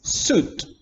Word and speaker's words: suit: is very nowhere nice suit remember it's not pronounced sweet sweet is a taste